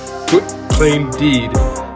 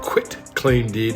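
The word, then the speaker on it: quitclaim deed: were quick tank deed Quick Claim Deed quit claim deed that's how you say it over to to her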